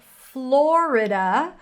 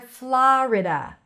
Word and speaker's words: Florida: Okay, next we have Florida or Florida. Florida or Florida. O or a. Florida, Florida. Or you can actually say it in one syllable. Florida. Floor, like the floor.